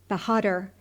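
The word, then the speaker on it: Bahadur: pronounced exactly in English it sounded something like this yankai bahader with the accent on the last syllable bahad and the a sounded like a in hark this was as near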